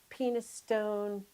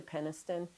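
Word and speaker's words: Penistone: of butt lane and penis stone lane. It's really peniston but it looks like penis stone.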